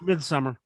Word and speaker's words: Midsommar: the guy who made It's pronounced Midsummer.